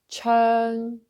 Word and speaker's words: 長: So with earn, churn, and in tone 4, churn, churn. Okay, churn. Actually, it's this sound, churn, tone 4.